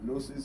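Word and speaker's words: Gnosis: Nosis is G N O S I S. The G is silent.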